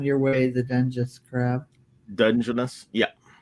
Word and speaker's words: Dungeness: Dungeness, yeah. Dungeness, is that how you pronounce that?